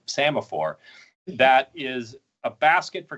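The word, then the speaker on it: psammophore: It's actually spelled with a P, P-S, so semaphore.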